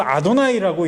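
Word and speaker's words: יהוה: 야훼인데 이스라엘 사람들은, 유대인들은 이걸 아도나이라고 읽습니다.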